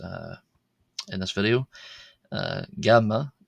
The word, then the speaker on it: ⲅⲁⲙⲙⲁ: Uh, gamma. Gamma is like the G in the English word git. However, more accurately, it's more like a G sound as in Greek or uh, modern Greek or Arabic.